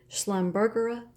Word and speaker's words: Schlumbergera: And here is my beautiful Thanksgiving cactus, Schlumbergera white.